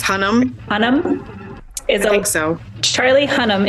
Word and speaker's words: Hunnam: Charlie how do you pronounce his last name? I think it's Hunnam.